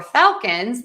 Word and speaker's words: Falcons: And then for falcons, we are going to stress the syllable number one.